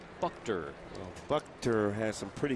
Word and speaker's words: Buchter: We are now told it's pronounced Buchter. Buchter.